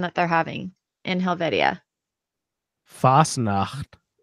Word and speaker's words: Fasnacht: they're having in Helvetia Fasnacht it's FAS na CH T yeah fast enough yeah